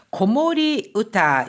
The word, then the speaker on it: 子守歌: 고모리 우타 여기에서는 고모리 우타 이렇게 해서 고모리라고 읽히는 거죠.